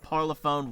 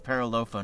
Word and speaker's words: Parlophone: LP parlophone Warner.